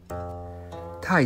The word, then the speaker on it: 太: 太字与泰山的泰发音相同，意思相关。